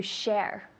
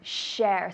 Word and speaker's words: share: Share, so just getting the proper sound of shh. I have some students that the s and the sh is difficult, so think shh, silent, shh, be quiet, shh, share. Tell me. Share. Perfect, one more time. Share. Good, and I can hear the shh, that's important.